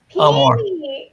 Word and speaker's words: Peony Amor: Peony Amor.